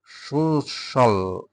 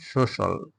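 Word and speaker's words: social: staff হচ্ছে জিনিসপত্র তার কিছু জিনিসপত্র আছে সো সোশ্যাল এটা সোশিয়াল আমরা বলি কিন্তু এটা হচ্ছে উচ্চারণটা হবে ফরনার উচ্চারণ সুশল সামাজিক আছে আরেকটা হচ্ছে সুষবল সুশাবল একটা জফলা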